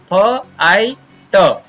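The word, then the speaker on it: fight: जैसे फ आई ट, अब यहाँ पर जी एच है वो ये है वैसा ही साइलेंट रह गया।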